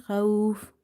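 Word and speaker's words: خوف: Min ju iew wa amanahum min khauf. Min khauf. Mim, noon, kasrah, min. Kha, waw, fathah, khauf. Fa, sakin, khauf. I will explain again the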